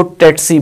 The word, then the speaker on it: tsetse: पाकिस्तान में क्योंकि ज़्यादातर ब्रिटिश प्रोनाउंसिएशन और ब्रिटिश इंग्लिश और ब्रिटिश रूल्स फॉलो किए जाते हैं, उस लिहाज से हम इसको टेट्सी बोलेंगे।